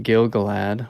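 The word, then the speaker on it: Gil-galad: let it go and then um and then gil galad or gilgalad depending on how you like to pronounce it um offers to send her and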